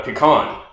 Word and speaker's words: pecan: It is a It is a nut called a pecan. It is not a can that you pee in.